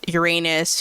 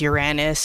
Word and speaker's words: Uranus: a planet, and then Uranus, which is pronounced as Uranus or Uranus, depending on who you are, is also not a planet.